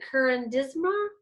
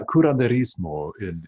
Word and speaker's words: curanderismo: Closest I would think would be the Curandisma, and you Mm-mm. could probably pronounce that a lot smoother than I just did. It's yeah, curanderismo in Spanish.